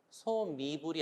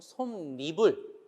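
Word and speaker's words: 솜이불: 여러분 중양은 얘를 기억하세요 솜으로 이불을 만들었어요 소 미불이 아니고 손 미불 니은이 들어가서 발음을 하고요 매니비 아니고 맨입 니은이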